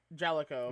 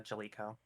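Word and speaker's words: Jaleco: oh jelo okay jelo oh is that how that's pronounced J A yeah j a l e yeah yeah j a l e c o yeah yeah jelo I think is what it's called but yeah no that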